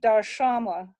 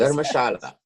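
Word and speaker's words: Dharamshala: And then you see Darshamla, which I'm not pronouncing correctly. Iqbal, please. Dharmashala.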